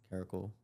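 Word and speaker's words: caracal: I don't know how to pronounce that. Caracle.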